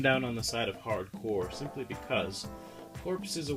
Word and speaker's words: Hard Corps: okay here it is it's Contra hardcore which everybody wants to seems to want to call hard corpse rather there's some debate about it I guess but I